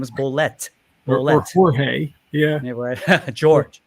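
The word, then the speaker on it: Bolet: was to, you know, some people say George Ble and he was like, "No, no, no, no, no. His name is Blet." Blet or Jorge. Yeah. George. It's George, not Jorge. George Blet.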